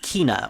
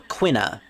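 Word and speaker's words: Quina: you me this is kina or quinna however you like to pronounce it i usually pronounce it as kina um she is of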